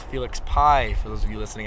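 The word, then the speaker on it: Félix Pie: random oriole a random one you like random felix pa you know what the heck is that so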